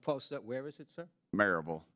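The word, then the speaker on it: Maryville: it would what post where is it sir marville it's pronounced merille if you're from there but it's you would pronounce it marville m a r y v i l l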